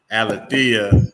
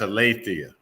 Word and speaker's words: Alethea: I used to pronounce it Alethea until the Presbyterian minister told me, no, that's Alethea. Oh, okay. That's the proper pronunciation.